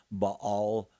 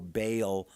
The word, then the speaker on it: Baal: If you were to stay with Baal, and you're going to hear that name Baal pronounced one way or Bale another way, they're talking